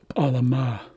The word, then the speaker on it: alama: So the accent is at the end of the word, which tells us to emphasize the last syllable. So this is alama, and this means to make someone or something work.